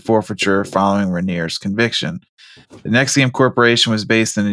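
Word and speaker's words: NXIVM: not make that sound it's NX i v m I don't know how that spells Nexium but I'll take it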